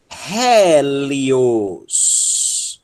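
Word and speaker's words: ἥλιος: O eta com aspiração forte ó, vai ser pronunciado ré. A marcha do carro, tá? Ré. Ok? E é a sílaba tônica, ré. Depois nós temos um lambda e um iota, li. E nós temos um ômicron sigma no final, os. Hélios. Hélios.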